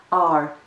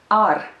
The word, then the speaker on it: ar: It's a single syllable word, ar, ar, ar, ar. You hear the Latvian R in this word.